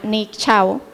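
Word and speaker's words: Nick Szabo: que acuñó el término se llama nick chau aunque su nombre se escribe zs veo que no es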